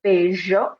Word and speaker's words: bello: several other videos, that this double L has some different pronunciations depending on where you are in the Spanish-speaking world. So we're going to, but I'm going to say it as bello just to keep it simple.